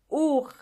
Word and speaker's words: Uhr: Uhr. Uhr means clock, and the H in this case is silent.